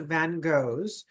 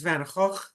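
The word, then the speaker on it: Van Gogh: that draws attention to Van Go. By the way, if you'd like to appear like an art historian or an artist, they pronounce his name in Dutch. So, it's Van Hawk.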